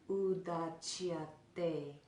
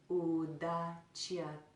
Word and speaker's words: Udacyate: So both of those are pronounced with the tongue placed on the back of the teeth and then drawn back. So in that word, Udacyate, try that with me. Udacyate, Udacyate, Udacyate.